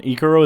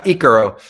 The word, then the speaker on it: icaro: an example of uh of an ecoro is that how you pronounce it yeah icaro yeah it's you know it's